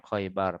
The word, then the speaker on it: Khaibar: waktu pelaksanaan perang khaibar khaibar bacanya bilha ilmu jamaah awwaluhu dibaca dengan khas yang bertitik di awalnya di awal kata tuh kok gitu maksudnya waroho akhiruhu dan rok pada akhirnya hot depan rok belakang